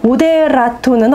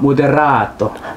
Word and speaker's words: 모데라토: 지난 시간에 말씀드렸지만 정확한 발음으로 안단 티노. 안단 티노. 안단 티노. 모데라토는 어떻게 읽나요? 모데라토.